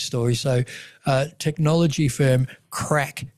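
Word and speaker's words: Craic: So, uh technology firm Crack Health, right, which is spelled C R A I C.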